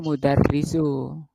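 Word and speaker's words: مُدَرِّسُ: Kalau fathah di atasnya tasdid mudarrasu. Tapi kalau di bawahnya tasdid itu mudarrisu.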